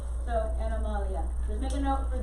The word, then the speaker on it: animalia: Just make a note, Latin pronunciation for it. Then the other one, animalia. So, animalia, or as your book says it, animalia, just make a note for it.